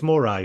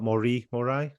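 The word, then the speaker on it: memento mori: It's morai, right? Not mori morai. Does it? I think mori. I'm not sure. Momento. That's how I usually pronounce it. Maybe you're right. Yeah. No, but I I always thought it was momento mory and then I heard a song by the streets and he pronounces it momento morai. I think probably because it rhymes with die. Okay. He uses it in the song, but we'll say momento mori.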